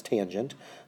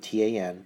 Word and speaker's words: tangent: And tangent, of course, T-A-N-G-E-N-T, that's tangent, but often abbreviated with T-A-N, but still pronounced tangent, not tan.